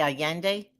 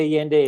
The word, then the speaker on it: Allende: de Allende a day Allende so Double L is pronounced as a y so San Miguel de Allende is in the heart